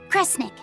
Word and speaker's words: Kresnik: Cre, Snira, Cre, Snick. Kresnik. Kresnik feels right somehow.